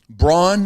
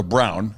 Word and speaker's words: Braun: like, the first, or Brown. I call him Braun. Because that's how it's spelled. You and Charles. It's spelled B-R-A-U-N. That's Braun. I played with the guy, Steve Braun. Right. It wasn't Steve Brown.